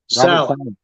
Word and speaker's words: Saleh: Is it Saleh or Salah? Salah.